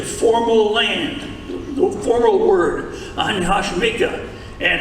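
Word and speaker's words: 안녕하십니까: Anya Hashimika is the formal land, the formal word, Anya Hashimika.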